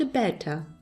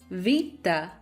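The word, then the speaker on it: βήτα: alternative pronunciation for example this is not a better and this is definitely not a pie now let's see how their names are actually pronounced and what are the sounds they stand for alpha ah Vita the gamma la varita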